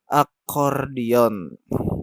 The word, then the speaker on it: akordion: Acordion tulisannya tapi membacanya akordion, ya.